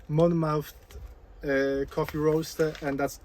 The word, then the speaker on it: Monmouth: i mispronounced the name i think it's you you pronounce it mouth not mammoth but anyway monmouth uh coffee roast and